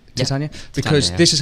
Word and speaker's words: Titania: I wanted to ask you about Titania McGrath. Mm-hmm. Did I pronounce it right? Titania?